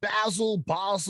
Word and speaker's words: Basel: And is that, am I saying it right? Is it BASEL? Like, you know? Yeah, you're saying it correctly.